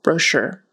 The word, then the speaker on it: brochure: brochure but it's uh the syllable stress is on the second syllable brochure poor poor and sour